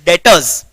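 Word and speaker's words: debtors: लिखा है, ठीक है, यहां पे ये बी जो लिखा है उसको तुमको लिखना है, लेकिन उसको तुमको प्रोनाउंस नहीं करना है। समझ में आ गया? इट is what? It इज डेटर्स।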